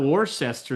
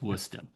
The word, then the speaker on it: Worcester: Um, Worcester. See, I pronounced it right, didn't I? It's not Warcester. That's Worcester, Massachusetts. Or more specifically, it's Wora. It's Worcester.